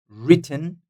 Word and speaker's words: written: like that's number one written written so w is silent here that will be number